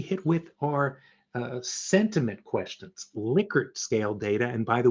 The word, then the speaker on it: Likert: Other type of questions that you'll probably be hit with are sentiment questions, Likert scale data. And by the way, it really is pronounced Likert, not Likert.